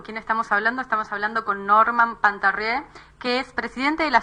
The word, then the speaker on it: Partarrieu: Sí, Miguel, se pronuncia Partarrieu, muy bien pronunciado.